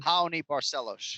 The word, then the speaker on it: Raoni Barcelos: not asking for but now, how do you pronounce his name again? Raoni Barcelos.